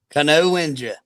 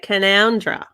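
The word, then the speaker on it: Canowindra: a hard one a lot of australians can't pronounce this don't worry cano wenger well that's what you'd think wouldn't you but but they actually say canondra now come on uh american towns there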